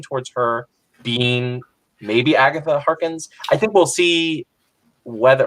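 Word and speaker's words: Harkness: I would lean towards her being maybe Agatha Harkins. I think we'll see whether, or Hawkins, I think is how you say it.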